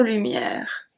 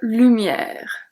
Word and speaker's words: lumière: The E is silent at lumière.